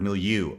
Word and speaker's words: milieu: what's in his milieu I keep looking at the camera because I'm working on my pronunciation of that word milieu I think is correct I've been saying it wrong for so long and Martine was nice enough to smack me over the head and correct me a number of